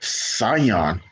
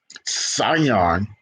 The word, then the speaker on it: Scion: vehicles the s name the Sion s c i o n Sion remember the C is silent Sion the name Sion meaning